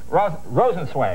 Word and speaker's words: Rosenzweig: Now, Sisters Rosenzweig, am I saying it correctly? Yes. That's good.